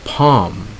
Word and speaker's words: palm: um so you don't say columns alright you pronounce it as arms next is palm and all like the palm tree another one